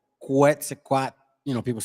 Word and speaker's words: Quetzalcoatl: So it's like a TL. So Quetzalcoatl. Or when you see the E at the end, Quetzalcoatl.